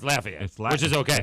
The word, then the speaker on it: Lafayette: down here, it's Lafayette, which is okay. It's Lafayette unless you're speaking in French, and it's Lafayette. Lafayette. So if you're going to speak in French, it's okay, but otherwise it's Lafayette.